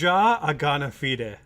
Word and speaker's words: Ja Agana Fide: It's Ja Agana Fide. Like you pronounce the H's by just exhaling, if you care.